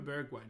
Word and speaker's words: Bergwijn: Steven Bergwijn is how you pronounce his name.